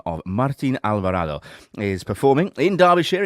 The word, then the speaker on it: Alvarado: Lisa oh incredible there we go I I pronounce surname myself Alvarado you do it better than me I did